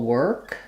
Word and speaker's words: work: worry world word Etc so I'm going to rewrite that with the letters e r those will work just to help with um understanding how we correctly pronounce that that's the same whether I'm saying the word work by itself or any context this isn't actually a reduction it's just how we say that word um but I think